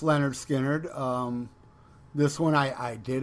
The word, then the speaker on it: Lynyrd Skynyrd: out with the with the first album is pronounced Lynyrd Skynyrd this one I I get owned as a